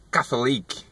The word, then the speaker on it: Catholic: Eu falava Catholic, né? Catholic, alguma coisa assim. Mas não. Como é que você pronunciaria essa palavra? Ó. A pronúncia correta é Catholic. Catholic, ok? Catholic. Nada de Catholic, Catholic, não, nada a ver.